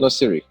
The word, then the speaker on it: Nosiri: So, ladies and gentlemen, and I hope I say this correctly, David Nosiri? Yeah, David Nosiri. Nosiri. Okay. Yeah, Nosiri, yeah. I'm trying to get everyone's pronunciation right.